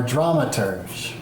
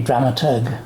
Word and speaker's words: dramaturg: podcast and I'm here with Peter Bradbury are dramers am I pronouncing that correctly dramers it would normally be dramaturg dramat um it's dramaturgy or dramaturgy I don't